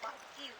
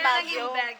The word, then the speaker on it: Baguio: kalayo Ito po siya po makita Ayan so bag you kaso nga lang yung mga Americans Hindi nila ma i-pronounce kasi medyo slang SL lang sila kaya bag you b ah Nag naging bagel kaya mukha naging baguil City po bag going to baguil city so